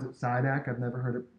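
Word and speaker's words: Šidák: Another comparison, I pronounce it SIDAC.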